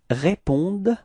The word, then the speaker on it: répondent: Ils répondent, repeat, ils répondent, okay, so it's actually a common mistake that usually students tend to pronounce this E-N-T, so they want to pronounce it like en, okay, but then keep in mind that for verbs we don't pronounce them, so E-N-T is actually not pronounced, it's only répondent, okay, at the end it's the sound of the d, okay, ils répondent, repeat,